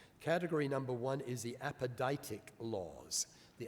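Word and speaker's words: apodictic: into two categories category number one is the apoditic laws the apodic laws i'll spend that spell that out for you a p o d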